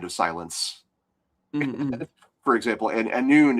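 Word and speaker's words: Annwn: Uh but uh there's there's Tuara anon which means uh the land of silence for example and anon is spelled very Welsh. It's got no vowels at all.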